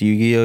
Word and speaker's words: Yugi: Yeah, His name isn't Yu-Gi-Oh, it's Yugi.